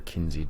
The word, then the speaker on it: Kinze: So this is the Kinze 1300, or Kinze, depending how you want to pronounce it.